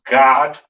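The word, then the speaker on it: גד: that word next we have gad or pronounced god in the hebrew a syrian spelling right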